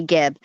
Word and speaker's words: Gibb: Melanie Gibb.